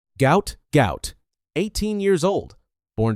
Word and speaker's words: Gout: His full name, pronounced to rhyme with pout, was misspelled during his family's transliteration from Arabic. The world knows him as Gout Gout.